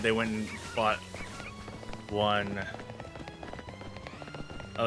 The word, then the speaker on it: ONN: A friend of mine said they went and bought one. Oh, it's ONN. So on, I guess is how you pronounce the brand.